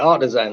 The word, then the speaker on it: Artixan: So, but it's said artisan, but it's spelled Artixan. So ARTIXAN.